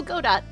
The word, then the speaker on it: Godot: It is, once again, pronounced Godot.